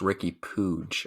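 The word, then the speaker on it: Riqui Puig: um with i think i've actually heard it pronounced ricky pooge i think is the the catalan way that it's surely that's not how spanish would say it oh wait i'm pretty positive that's it yeah wow okay now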